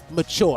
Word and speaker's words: Machoor: to double check how how do we pronounce it the way you normally spell mature as i know is m-a-t-u-r-e do we pronounce your name the same way yeah it's the exact same way but uh this is